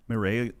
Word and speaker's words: Mireille: How do you pronounce the name of your other co-author? Is it Mireille? Mireille Lalancette.